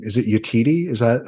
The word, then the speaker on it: Yetide: Who in God's name, I believe her name, is it Yetide? Is that how you pronounce it?